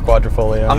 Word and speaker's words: Quadrifoglio: But it's not the Quadrifoglio, which you think Q4 Quadrifoglio. I'm amazed that you pronounced that properly.